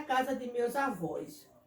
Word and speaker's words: avó: Como, por exemplo, avó. Não fica avo, não é? Mas quando eu coloco o acento, fica avó.